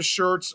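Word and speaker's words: Schertz: like again it's like a pronounced the same as like a like a t-shirt like if you want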